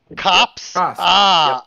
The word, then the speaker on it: Copes: clearing yeah it's definitely copes oh it's pronounced exactly the same as if the e wasn't there oh cops okay yeah i i